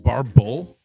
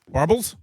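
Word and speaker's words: barbel: Uh it's pronounced barbble. Barbble. Barbles. I love it. Who who says that? Oh, according to a dictionary, barble.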